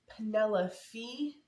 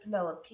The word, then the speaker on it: Penelope: And what this book one is it is about the maiden who is, I believe it's Penelope instead of Penelope is how you pronounce her actual name, but she goes by Poppy to her friends and things like that.